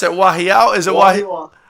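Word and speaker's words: Wahiawa: And he says, I can't even pronounce it. Wahiao? Is it Wahiwa? Wahiwa.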